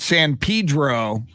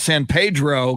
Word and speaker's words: San Pedro: uh moved to california there's a town near long beach called san pedro and i was pronouncing it san pedro because we have a street in san antonio called san pedro and everybody thought i was a freak in southern california for calling san pedro san pedro then i had